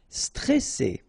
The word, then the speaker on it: stressé: Stressé, okay, remember you get double S here, so you pronounce it really strong while it's between two vowels. So C, alright, and then here you get this E before the double S, so it will open the pronunciation of the E, stressé, stressé. Stressant, okay, final T not